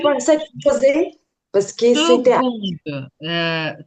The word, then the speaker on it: seconde: composé parce que c'était секунду. Це вимовляється секунд. Оце не к, а г. І якщо ви швидко будете там чути, як хтось каже, воно може навіть перетворитися на згунд.